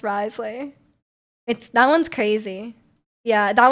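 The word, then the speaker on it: Wriothesley: It's like Rio Thessley, but it's pronounced Risley.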